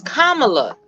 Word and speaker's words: Kamala: no kids I'm just telling you how to pronounce it it's Kamala now we're not GNA do that I like